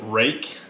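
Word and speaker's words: Ruike: barrel and blade again that's r-u-i-k-e they pronounce it rake i love this man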